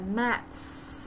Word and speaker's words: maths: Maths. Maths. Đó, chữ khó đọc là maths.